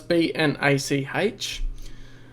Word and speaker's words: Bnach: Now that's B-N-A-C-H. I guess I'd pronounce it Bnach, something like that.